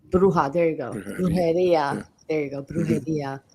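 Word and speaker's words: bruja: black magic like the dolls and the oh bruha bruha there you goia there you go bruh um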